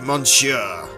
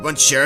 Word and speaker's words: Monsieur: Oh, I don't pronounce the N in it? Monsieur. Is it Monsieur? Monsieur. I've been saying Monsieur the entire time.